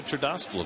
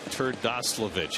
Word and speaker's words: Terdoslavich: That's Joey Trdoslovich. That's what I thought. Joey Trdoslovich. You got to say it slowly.